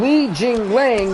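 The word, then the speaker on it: Li Jingliang: But I'm really intrigued because right now Alan Jabal's rocked at the moment, but the 0-1 Li Jing Lang, that's how you say his name, is taking on the 0-2 Alan Jabon.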